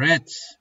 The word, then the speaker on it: read: İkinci ve üçüncü hali nasıl diye okunuyordu arkadaşlar? Aynı şekilde yazılıyor. Kırmızı gibi söyleniyor. Red.